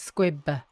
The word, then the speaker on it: squib: So I think it's squib with the b.